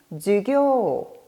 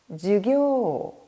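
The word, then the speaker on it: 授業: 수업에서 업이라는 한자를 장음해 주시면 됩니다. 따라서 발음은 주교, 주교 뒷부분에 장음을 넣으시면 되겠죠.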